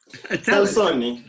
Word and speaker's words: Salsone: Is that the correct pronunciation? Salzoni. No. Salzoni. Easy. Salzoni. If you just, you know, always say, you go like this, you get it. Salzoni. It's like, just kind of put it together.